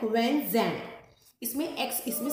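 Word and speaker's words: Xuanzang: दूसरे थे ये, इनके नाम में भी आपको ज़ुआन जैंग लगेगा बट we pronounce it like when जैंग।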